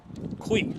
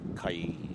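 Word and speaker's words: cuy: Kui. That's why I haven't said it yet. So I didn't want to say kai, like guy, kai.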